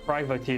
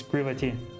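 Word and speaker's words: Privaty: I have always called her privy, but apparently that's not right. It's privity.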